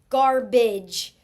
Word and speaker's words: garbage: G-R, G-A-R, garbage. Okay, here is a final stable syllable sound. Bidge. B. Garbage. It sounds like an I vowel, but actually it's this right here, A-G-E, garbage, A-G-E.